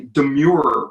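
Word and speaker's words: demurrer: this is called a demure PR pronounced de Mur three syllables for example say the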